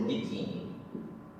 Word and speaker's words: biquíni: A palavra que eu digo aqui para vocês, por exemplo, biquíni. A palavra torto. Torta, pronto. Observe aqui. Biquíni, a sílaba forte é o que. Paroxítona, portanto.